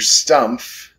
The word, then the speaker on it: Stumpf: that the owner mr stumpf that would be s-t-u-m-p-f with a silent f or sorry silent p i guess and that's okay well